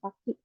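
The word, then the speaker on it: 先: Tapi lebih kalau kanji ini mungkin lebih seringnya ini ya dipakainya yang sakti. Untuk cara bacanya ada sakti sama seng.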